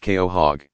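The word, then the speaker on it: quahog: very long time with a qua hog pronounced KO hog living around 150 years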